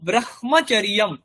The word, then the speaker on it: ব্রহ্মচর্য: কিন্তু আমরা উচ্চারণ করি ব্রহ্মচর্য। তাহলে ম আগে আসছে। তাহলে এইখানে আমি কেন এই নিয়মের উল্লঙ্ঘন করছি যেটা আমি লিখছি এইরকম তার উচ্চারণ আমি করছি না। উচ্চারণ করছি ম এর সাথে হ যোগ হয়েছে। উচ্চারণ এটারই করছি।